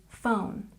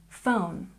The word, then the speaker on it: phone: This PH sound makes the F sound, so this is phone, phone.